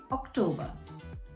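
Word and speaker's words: Oktober: is september september october just replace the c with a k and still remains october october november same spelling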